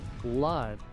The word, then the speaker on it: blood: Muchos pronuncian esta palabra book, pero aquí la primera O se pronuncia la segunda O es muda, book.